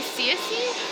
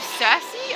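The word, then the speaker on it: Circe: um in this game do they say Cy instead of cersi I I I just I was right about that that's just pronounced weird I think it's only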